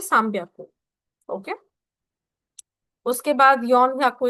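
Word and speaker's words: 三百: सान ब्याक को लेकिन जब आप उसको प्रोनाउंस करोगे तो आप उसको प्रोनाउंस करोगे साम्याकू।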